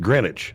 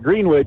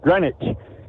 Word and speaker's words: Greenwich: But it's pronounced Greenwich. Yep. Okay. Greenwich. Yep. Just like just like Connecticut. It's Greenwich, Connecticut. It's not Green Witch, it's Greenwich.